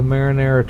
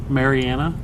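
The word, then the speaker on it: Mariana: the Meg right the marinara Trench makes an appearance in that movie they said it wrong they mispronounced it the marinara the marinara Trench Marianna no that's what they said they mispronounced it okay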